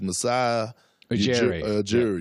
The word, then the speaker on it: Masai Ujiri: I always have problems pronouncing his name, but it's Masai Ujiri.